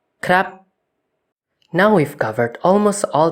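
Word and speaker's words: ครับ: If the vowel is short, however, the tone will be high instead for some reason, like a word I'm sure we're all familiar with. Krap.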